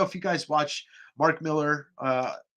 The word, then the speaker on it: Millar: you guys watch Mark Miller uh you might say his name's Mark Millar Mark Miller Scottish uh comic book